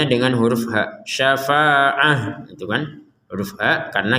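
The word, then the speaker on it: شفاعة: Tapi karena kita berhenti, maka huruf ta yang bulat ini kita baca sebagai huruf ha, syafa'ah seperti itu. Kalau digabungkan kepada kata berikutnya, barulah huruf ta ini kembali kepada huruf ta aslinya, sehingga terbacanya nanti dilihat harokatnya. Harokatnya adalah tanwin, huruf setelahnya adalah waw, sehingga tanwin dimasukkan ke huruf waw. Syafa'atu walahum. Nah, seperti itu. Jadi tanwinnya dimasukkan ke huruf waw. Taknya kembali seperti menjadi tak sebagaimana awalnya.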